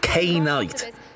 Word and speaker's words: Knight: Oh yeah, by the way, Knight wants his name to be pronounced K-Knight.